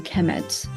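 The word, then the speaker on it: Kemet: will be the the noun will be pronounced a chemet so so uh Egyptians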